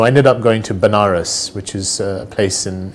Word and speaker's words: Banaras: to him so I ended up going to Banaras which is a place in in India sometimes pronounces veneris which is a place where they perform their